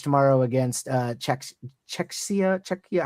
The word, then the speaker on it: Czechia: Czecha. How do you say it? Do you know? Czechoslovakia. Not Czechoslovakia. Czechia.